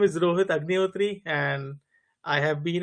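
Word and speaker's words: Agnihotri: for granted now but my name is Rohit agot and I have have been in the identity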